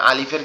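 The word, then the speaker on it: ألف: তাহলে আলিফের ক্ষেত্রে বলেছি, আলিফটা আমাদের দুই দাঁতের, উপরের দুই দাঁত নিচের ঠোঁটের পেটের সঙ্গে লাগবে। লেগে কিভাবে উচ্চারণ হবে? এরকম ভাবে একটু হাওয়া বের হবে গালের ভিতর থেকে, বের হয়ে উচ্চারিত হবে আলিফ, আলিফ, আলিফ, আলিফ, আলিফ, এরকম উচ্চারণ হবে।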